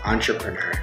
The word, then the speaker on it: entrepreneur: It's entrepreneur. Okay. Entrepreneur. Entrepreneur. Sí. ¿Por qué uno lo leería entrepreneur? ¿Es una palabra francesa? Sí. Con origen francés.